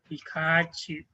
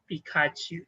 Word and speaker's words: Pikachu: Pikachu minute Pikachu okay because it produce a long sound now Pikachu we don't say Pikachu